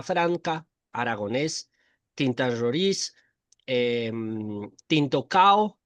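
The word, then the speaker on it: Cão: Sí, yo pronunciaba, yo siempre lo pronuncié Cao, pero no sé por qué a veces me entraba la duda y decía también puede ser Sao, pero bueno, es tinto Cao.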